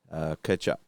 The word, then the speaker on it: Tkachuk: I think that T was silent. Tkachuk.